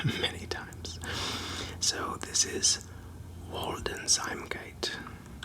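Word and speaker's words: Waldeinsamkeit: Germanic language or largely a Germanic language, German pronunciation is something that uh escapes me many times. So this is Walden Zimgate. Walden Sgate.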